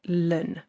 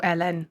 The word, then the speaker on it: ln: We call it lun or ln, however you want to pronounce it.